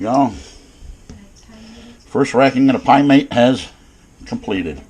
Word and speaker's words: pyment: first racking of the pie mate has completed by meant pie meant if i ever say it right how you doing pyment p y m e